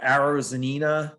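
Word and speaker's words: Arozarena: a contention for an mvp um you know arrows zanina is that how you say his name yeah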